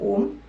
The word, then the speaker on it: Om: When you chant each and every syllable of Om, A comes from the lower abdomen, U comes from the chest, and Im comes from anywhere. You can feel it from your neck to the top of the head.